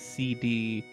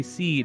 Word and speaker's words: SeeD: kid it was i i pronounced it as cd but it's supposed to be seed because their schools are called gardens oh i thought it was